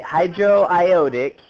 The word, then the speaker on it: hydroiodic: Okay, hydroiodic is how you would pronounce that. Yeah, you have to be careful with that one.